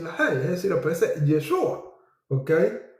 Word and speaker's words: Yeshua: ley, es decir, aparece Yeshua. Okay. No lo puedes pronunciar Yahhua porque no tiene esa y no aparece ninguna forma escrita. Entonces el nombre era Yeshua o en su forma